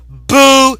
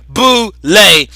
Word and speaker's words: Boule: And it says, it pronounced Boule, B-O-O, then it has a dash, L-A-Y, Boule. And Boule itself is spelled B-O-U-L-E.